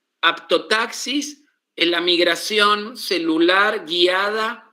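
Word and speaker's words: haptotaxis: ¿Cómo se escribe aptotaxis? Con h. H h h a p t o apto taxis. Como un taxi, ¿no? Aptotaxis con h y con p.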